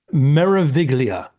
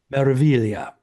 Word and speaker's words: Meraviglia: way of pronouncing things meraviglia but you don't pronounce the G it's silent so it's marilia is how they they